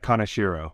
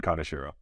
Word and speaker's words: Kanashiro: I didn't ask you how to pronounce your surname uh kanashiro so kanashiro kanashiro where's that from but Japanese Japanese cool yeah coming from